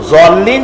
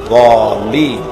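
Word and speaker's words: الضالين: সেই জন্য জল্লিন যদি কেউ পড়ে তাহলে নামাজ অশুদ্ধ হয়ে যাবে। এটা দলিন গায়রিল মাগদুবি আলাইহিম ওয়ালা দলিন, দালও না আর জও না, উচ্চারণ হবে মাঝখান দিয়া দলিন।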